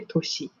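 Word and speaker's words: 年: We use ko and then toshi.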